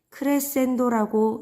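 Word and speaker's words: crescendo: 자, 점점 벌어지는 듯한 모습을 보이는 이 기호는 크레센도라고 읽고요. 뜻은 점점 세게예요. 그 아래에 자, F만 되어 있는 이 기호는 포르테라고 읽고 뜻은 세게입니다.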